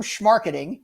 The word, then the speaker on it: schmarketing: The term schmarketing, you're familiar with that term, right, Richard? Schmarketing, yeah, you said it right.